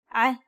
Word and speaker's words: ع: To pronounce this sound, do the same as you would with the deep H sound, but this time try to cause your vocal cords to vibrate.